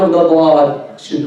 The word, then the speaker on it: ضاد: Make the D'aad heavy. Pronounce it without any ghunna. You don't say, well, did we ever mention the nasal cavity here? We never mentioned it. So no ghunna.